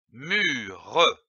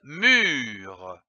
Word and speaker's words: mûre: L'association de ces deux syllabes mu et re donne mure, comme une mûre. Attention, ici, l'accent circonflexe sur le U. Il faut allonger le U.